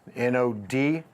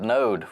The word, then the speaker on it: NōD: Rob Gupta founder of n OD co-working I pronounced alright or nod we call it node would new it with